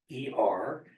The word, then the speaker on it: Olver: It's actually Olver.